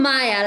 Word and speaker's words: Maya: adaptation excellent exactly sorry is your name pronounced maha or maya i'm maya like in spanish would be uh written with igrega okay super nice oh